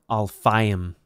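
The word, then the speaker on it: אַלְפַּיִם: Now, 2,000 looks like the plural form of, like, alafim, but it's spelled differently with different vowels, alfayim.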